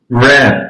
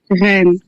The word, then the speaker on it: Rennes: Um, I'm from Ren. I say it again. Yeah. Ren, but the R the R is really hard.